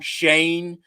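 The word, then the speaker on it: Joe Schoen: the leading candidates joe shane um spelled show in but pronounced shane from the bills rand carthan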